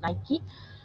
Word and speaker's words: Nike: nike nike product nike brand nike how you pronounce but i mentioned it's nike so we have the apparels approach the t-shirt